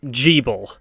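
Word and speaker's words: Gebel: pronunciation for this guy it's pronounced G bull that helps me out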